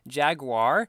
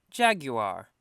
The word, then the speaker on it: Jaguar: American version of it because the American pronunciation apparently is like Jaguar and the British pronunciation is something like this Jaguar so there are many